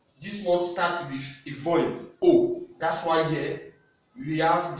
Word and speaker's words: au: The first one is O. Don't forget, in French, AU sound O.